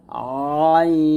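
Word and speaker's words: ع: যেন পাতলা না হয়ে যায় এরকম তারপর হচ্ছে আইন আইনটা আমরা কি করব আইনটা আমরা গলার মাঝখান থেকে চাপ দিয়ে উচ্চারণ করব আ এরকম আইন আইন আইন এরকম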